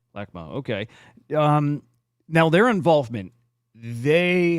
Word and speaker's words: LACMA: Now, do I say it right? Lakma or Lakma? Yeah, LACMA. Lakma.